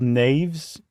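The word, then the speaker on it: knave: used to be called naves and a Nave is like an assistant to the royal family basically or a knight or something like that and it's spelled like Knight k-n-a-v-e well now that you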